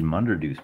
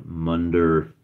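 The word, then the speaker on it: Munderdoose: And I'll just write that down here, Munderdeuce, and I spell it D-O-O-S-E. Rhymes with moose.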